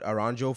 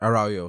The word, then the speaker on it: Araujo: I'll put Aranjo for from Barca. I'd put Araujo in there. Araujo, sorry, I've been saying it wrong. I don't even know if I'm saying it right.